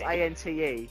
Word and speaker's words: ante: It's how you pronounce A N T E. You pronounce it ante.